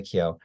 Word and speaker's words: Keough: Okay, Jessica Chastain at number one, followed by Ali Wong, Elizabeth Olsen, Emily Blunt, Riley, how do you pronounce her name? Yeah. Riley Keough.